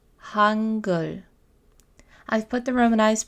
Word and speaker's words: Hangul: Hangul. Hangul. I've put the romanized pronunciation in parentheses so you can see exactly how this would be pronounced using English letters.